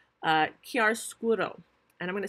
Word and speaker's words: chiaroscuro: new artistic technique called chiaroscuro. And I'm going to spell that for you because it's not only hard to say, it's hard to spell. It's an Italian word. It is spelled Chiaroscuro. Chiaroscuro.